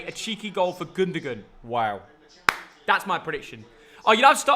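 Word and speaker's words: Gündoğan: It's a pronunciation. Oh, yeah. Gundogan.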